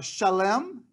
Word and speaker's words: Salem: So the temple area is further north, and then you have Salem, or Shalem is the correct way of pronouncing it.